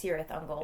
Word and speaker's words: Cirith Ungol: By the way, were you pronouncing it Cirith Ungol in your head when you read? No, I was saying it's Cirith Ungol. Yeah, see the hard C, right? The hard C sound.